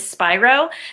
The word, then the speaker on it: Spiro: sure everyone knows it's my last name is spyro so a lot of people say how do you pronounce it so i have one of those